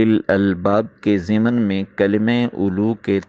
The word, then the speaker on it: أولو: میں ایک تو کلمہ اولو کا تلفظ بتاتے ہوئے کہا جا رہا ہے کہ اس کا پہلا واو لکھنے میں تو آتا ہے، پڑھنے میں نہیں آتا، اور اولو ذو کے